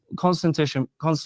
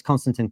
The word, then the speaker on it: Konstantin: How does Konstantin Kisin propose to do First of all, it's Konstantin Kisin.